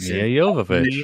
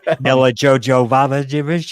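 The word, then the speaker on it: Milla Jovovich: Mia Jovovich. Jovovich. Yes. I can't say her name. That's why I said such and such. Mila Jovovich.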